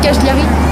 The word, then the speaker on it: Cagliari: cajelari tu es sûr qu'on dit cajelari ouais parce qu'on m'a dit en italien tous les G ah ok genre mascarpone tu vois il y a pas de G donc ça se prononce pas g 4000 on est où